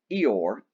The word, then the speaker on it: Eor: In a battle with the men of Eor, E-O-R, that's how it's pronounced, Sakatha was mortally wounded, and as he lay dying, he used his second wish.